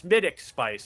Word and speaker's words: Smithwick Spice: There's a horse spelled Smithwick Spice and the owner says it's smittic spice and people all the time say, "Why do you call it smittic spice?"